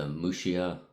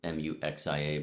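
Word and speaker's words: Muxía: Tim uh walked to Mushia, Muxia, but I think it's pronounced Mushia. We might say Mxia in English.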